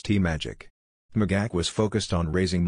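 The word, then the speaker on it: TMAGAC: to by its acronym nagak which RNC officials pronounce t-magic magac was focused on raising money online through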